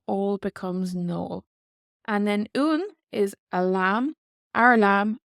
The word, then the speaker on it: uan: And then un is a lamb, our lamb, our nuan, our nuan.